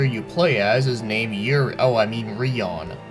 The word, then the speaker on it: Rion: So the character you play as is named Rion, which ironically enough also rhymes with Leon.